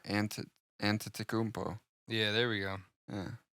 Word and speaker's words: Antetokounmpo: And Tentacupo. It's not bad. You knew that. I can see it. I'm reading it. There's not an N before the T, though, or the second T. No, Antetokounmpo.